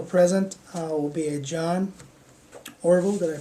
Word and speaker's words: Orville: Also present will be a John Orville, did I pronounce it right?